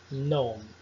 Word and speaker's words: gnome: Você não irá frequentemente pronunciar o G antes de N. Veja os exemplos abaixo. Sign, design, gnome.